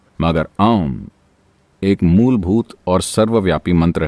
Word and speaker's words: ओम: से किया जाना चाहिए आम मंत्र में तीन आवाजें हैं आ उ और म यह आ उ और म जब आप इसका उच्चारण करते हैं तो उन्हें लगभग बराबर होना चाहिए और आपको नाभी के ठीक